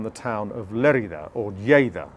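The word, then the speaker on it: Lleida: town of lerita or Jada as it's pronounced in Catalan is biodynamic now that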